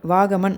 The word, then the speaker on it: Vagamon: கேரளா டூரிசம்ல இப்ப யூஸ் பண்ற டேர்ம் வந்து பாத்தீங்கன்னா வாகமன். அதையும் சில பேர் தவறா உச்சரிக்கிறாங்க. வகாமன், வாகமான் அப்படில்லாம் இல்ல. வாகமன் அவ்வளவுதான்.